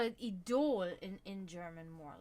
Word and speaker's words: Idol: In German we say idol. Idol. Right? Spelled the same way, just, So, it was always like, whenever I would tell my mom...